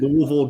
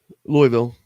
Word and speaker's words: Louisville: Say Louisville or Louisville? Louisville. I would say I'd give it like kind of a half hybrid. Louisville.